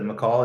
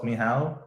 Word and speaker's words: Michał: Instead of McCall, it's Michał. If he's from Poland.